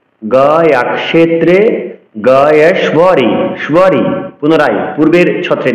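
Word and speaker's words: গয়াক্ষেত্রে: ক্ষে কিয়র উচ্চারণ ক্ষ করতে হবে, গয়া ক্ষেত্রে বলা যাবে না। গয়া ক্ষেত্রে গয়েশ্বরী।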